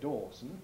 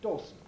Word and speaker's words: Dawson: the man's name or the surname dawson dawson well etymologically it's the son of david i suppose but we don't say dawson we say dawson the s is in the fourth syllable benson is pretty obviously